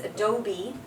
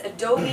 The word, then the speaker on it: Adobe: much surprised really yeah it's Adobe yeah it's Adobe it's not adob and uh you know